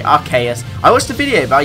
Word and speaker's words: Arceus: Yes, it's Arceus. I say Arceus, I know people say Arceus. I watched a video by Jay Witz yesterday, actually. I think the anime has called it Arceus, Arceus, and Arceus.